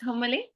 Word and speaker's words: homily: I giving a comily giving a normally what's homily homily the sermon or the speech I speak